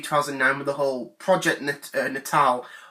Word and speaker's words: Natal: with the whole Project Natal, or Natial as I used to call it, because I didn't know how that you pronounced it, so I didn't.